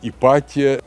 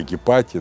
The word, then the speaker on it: Гипатия: Сама Ипатия, кстати, ее по-разному произносится имя, потому что там менялась фонетика произношения первого острого придыхания Г, иногда Гипатия, иногда Ипатия, иногда даже Ипатия ее произносят. Это более правильно для времени ее жизни.